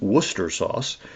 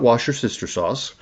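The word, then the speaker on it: Worcestershire sauce: That's that's actually the proper way to pronounce it is Worcester sauce. Um not wash your sister sauce.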